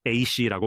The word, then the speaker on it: AISI: 그리고 제가 분명히 말씀드리자면 AI 안전연구소 AISI는 AC라고 발음됩니다.